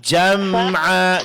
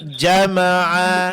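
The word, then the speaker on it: جَمْعًا: Di sini jam'a, jangan jama'a.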